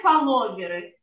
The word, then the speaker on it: фолловеры: Я буду говорить на русский манер. Например, фолловеры. Что это такое? Именно с русским ударением.